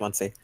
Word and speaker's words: Muncie: Yeah, it's pronounced Muncie.